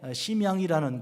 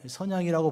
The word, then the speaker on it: 선양: 중국에 심양이라는 것, 선양이라고 발음하는데 선양이라는 곳에 동관 교회가 있습니다.